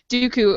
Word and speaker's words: Dooku: time with that name Dooku uh what do you think I mean I think Christopher Le is pretty great remember that Abby Abby said it rhymes with Dudu okay good yeah what